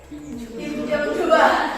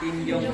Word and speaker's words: Kim Jong-il: Bagus ya, tapi ini bacanya apa tadi? Kim Jong-2. Harusnya apa? Kim Jong-il. Kim Jong-il ini bacanya ya.